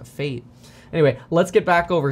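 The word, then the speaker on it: FAIT: flexible average inflation targeting known as fate f-a-i-t flexible average inflation targeting pronounced to fate anyway let's get back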